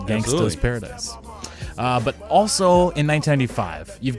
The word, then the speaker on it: Gangsta's Paradise: There was a trivia question or a Jeopardy question, and the guy got it wrong because he pronounced it Gangster's Paradise. And the judges came back and ruled him incorrect for not saying it Gangsta's Paradise.